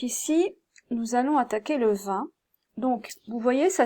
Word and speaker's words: vingt: Donc ici, nous allons attaquer le 20. Donc, vous voyez, ça s'écrit 20, V-I-N-G-T, mais en réalité, ça se prononce 20, comme le vin français, vous savez, le vin qu'on boit, la boisson.